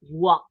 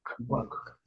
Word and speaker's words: walk: walk the pronunciation is walk walk we don't pronounce the L do you take a